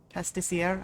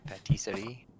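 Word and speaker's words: pâtisserie: Pastissiere, I believe. Patisserie. Yeah, that's the word.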